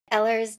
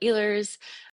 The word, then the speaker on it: Ehlers: Some people call it Ellers, some people call it Eers.